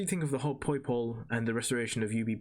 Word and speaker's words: Poipole: Poipole.